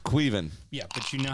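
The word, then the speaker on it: Caoimhín: Queefin. No. Look at the source. It's Irish. It's probably like Kyle. It's the way it's No, it's fucking pronounced. it's spelled like Colilin, Yeah, but it's pronounced Queven.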